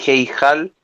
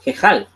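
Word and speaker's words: היכל: No suena Heijal. No, eso está mal pronunciado. Suena como Jejal.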